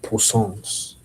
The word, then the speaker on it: poussins: Those are poussins. Poussins. That is p o u s s i n s. It's kind of like poisson, but poisson is fish.